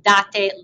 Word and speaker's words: date: Date, not date, date, la classe di italiano. In italiano noi pronunciamo, we are pronouncing tutte le vocali, right? All of the vowels, date.